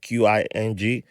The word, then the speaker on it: Qing: Because there were people, there's proof that the king, King Dynasty, that's how you say it, Qing from China, King, they were there.